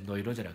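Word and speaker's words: Neurose: 영어로는 이제 뉴라시스라 그러는데 독일어 발음으로 이제 노이로즈라 그러는 거예요.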